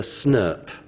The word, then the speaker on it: snRNP: And we pronounce that as a SNRP, okay? Small nuclear ribonuclear protein. So that thing there, we just call them SNRPs.